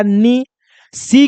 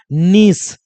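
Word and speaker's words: nice: लो, तो बन गया नी। सी के बाद ई है तो सी का तो इसे जानते हैं स, और लास्ट वाले ई का प्रोनाउंसिएशन होगा नहीं, तो क्या बन गया, नीस।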